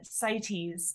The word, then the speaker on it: CITES: to, is it sites? Is it pronounced CITES, CITES? yeah, CITES, yeah.